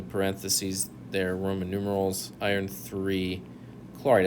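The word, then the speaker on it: iron(III) chloride: there are roman numerals iron iii chloride and that's how you say it too the next one you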